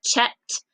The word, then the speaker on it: checked: We hear talking test at the end of checked and reached.